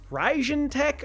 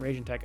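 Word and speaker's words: Raijintek: cases uh the rajan ryzen tech ophion i believe it's ryzen tech not raging tech i've been saying it wrong uh so we've got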